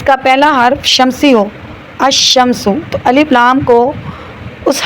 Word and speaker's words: الشمس: لام کا تلفظ القمر، تو القمر میں ال جو ہے لام پڑھنے میں آ رہا ہے، شمس میں لام پڑھنے میں نہیں آ رہا.